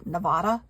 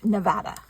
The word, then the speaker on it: Nevada: living crap out of me when people say Nevada no it's Nevada growing up in California I know how to pronounce Nevada cuz I lived in a town